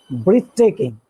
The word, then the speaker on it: breathtaking: Breathtaking. The first syllable. Breathtaking. What's this? Breath. Breathtaking. Breath. Not breathe, breath.